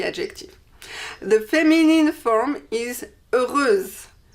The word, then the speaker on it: heureuse: The feminine form is heureuse. Heureuse with S and E, and you pronounce the S because there is an E after.